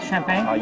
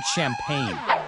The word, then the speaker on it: champagne: Whatever you do, don't drink every time you hear the word champagne. I'm trying to say it right. You have to say champagne.